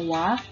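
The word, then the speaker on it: は: dan tebel kalian ingat walaupun dibacanya wah tapi ditulisnya dengan huruf H jadi jangan ketuker ya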